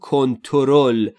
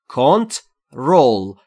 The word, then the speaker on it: control: ما تو فارسی میگیم control. ولی تلفظ درستش در انگلیسی. Control.